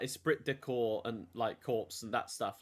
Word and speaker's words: corps: Corpsey? Is it like corpsey? Okay. Oh no, it's just corpse.